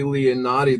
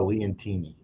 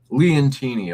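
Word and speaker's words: Leontini: This Sicily Leonati. This was a very mintstate looking coin. I wasn't too fascinated by the art, but I thought it was very well struck. And yeah, that's pronounced Leantini.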